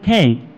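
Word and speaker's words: feign: ঠিক আছে, তারপরে তোমরা চলে আসো নেক্সট, কি আছে, নেক্সট তোমার আছে ফেন, এফ ই আই জি এন, ফেন। এখানে জি এর উচ্চারণটা কি হবে, তা তো হবে না।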